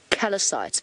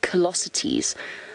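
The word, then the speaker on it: callosities: right I always gonna always want to call them is your callous eyes but it's not they shield kalasa teas I think that's how you pronounce it callosity 'he's the protruding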